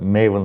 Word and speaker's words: Maven: well in addition uh maven rhymes with team halen so this is also